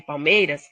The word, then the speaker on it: palmeiras: A sílaba tônica da palavra palmeiras é um MEI, é uma paroxítona.